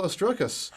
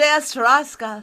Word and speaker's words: Ostrowskis: I wasn't giving it the English, the Ostrowskis. I need to give that S an extra bit of love.